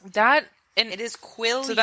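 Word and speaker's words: Quileute: Um, first of all, Taylor Lner um is famous for playing Jacob Black who is a member of the Quillite tribe.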